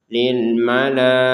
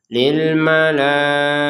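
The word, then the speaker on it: للملائكة: Kalau kita berhenti di sini ya ini terbacanya sebagai huruf ha. Lil malaikah. Jadi berhenti terbaca sebagai huruf ha. Kalau digabungkan kembali menjadi huruf ta. Lil malaikati inni. Nah, seperti itu. Jadi kembali menjadi huruf huruf ta.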